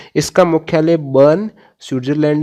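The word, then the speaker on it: Bern: तो बर्न याद रखिए, पोस्ट से आप बर्न, जो कि स्विट्जरलैंड है, जिस वैसे बर्न BURN है, लेकिन इसका उच्चारण एक ही है, बर्न इसका भी।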